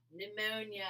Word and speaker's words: pneumonia: Bly died from pneumonia. The P is silent.